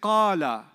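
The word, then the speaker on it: قال: When I say qala, how many syllables did you hear? Qala. Two syllables, isn't it?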